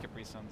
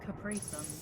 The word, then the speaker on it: Capri Sun: think I haven't had Capri sons in a while me neither you just made me realize that I've only ever heard Americans pronounce it Capri Sun how do you pronounce it Capri son Capri see okay so